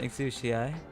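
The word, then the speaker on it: Exusiai: Exci pronounce it exi. And that's the one I've done for 5 years regardless of correct.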